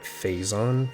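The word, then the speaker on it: Phazon: Also, it wasn't until Metroid Prime 3 that I heard the pronunciation of how they called it Faison for the first time. But I had played Prime 1 and two for so long that Fazison is just ingrained into my brain and I have no desire to change.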